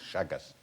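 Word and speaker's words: Chagas: question how you spell it's actually spell c h a g a s shagas I think it's some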